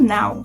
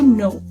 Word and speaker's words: know: Não é to now, ok? Se tem esse K aí, é to know. K, a gente não pronuncia ele, a gente não diz que know, a gente usa o know. Palavras com K em inglês, a gente geralmente não fala o K.